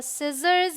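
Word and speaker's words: scissors: आप ध्यान में रखिए सी के पहले एस आए मतलब एस सी करके अगर आ रहा है इस तरीके से तो सी साइलेंट है आपको स प्रोनाउंस करना है इट्स सेंट साइंस ये क्या है आपका सीजर्स यह है डिसाइल ऑलराइट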